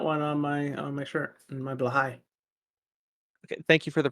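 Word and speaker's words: Blåhaj: I got one on my shirt, my Blahai. Okay, thank you for the pronunciation.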